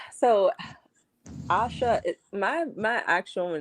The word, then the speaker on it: Asha: It's always like, okay, Ashley's in the chat or Asha's in the chat. But it's pronounced just Asha J. yeah, yeah, Oh, I guess I got close. Asha. Yeah, that's exactly what it is, Asha.